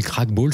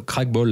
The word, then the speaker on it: Krachtbal: On l'a pas dit, mais Crackball, ça s'écrit comment?